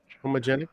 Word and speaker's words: Homogenic: Homogenic?